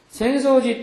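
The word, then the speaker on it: 浅草寺: 그래서 그런 습성이 있어갖고 아사쿠사라는 지역에 있지만은 아사쿠사를 별도로 따로 읽어서 센소라고 읽는다는 거를 기억하시면 편할 것 같아요. 센소지 또유.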